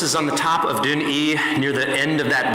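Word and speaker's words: Dùn Ì: And as you look at it here, it looks like Dun-1, but basically it's pronounced Dun-E, and it is the tallest point in Iona at 330 feet.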